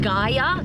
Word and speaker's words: Gaia: free this app is it's pronounced I think Gaia spelled g-a-i-a it's free it's got